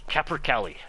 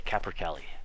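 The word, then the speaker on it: capercaillie: kind of funny that so many people have such a hard time pronouncing it it's kaer Cali it's just a it's a kaer Cali that's all it is okay take a second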